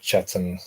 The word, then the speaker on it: Chetham's: Yeah, I think it's pronounced Chatham.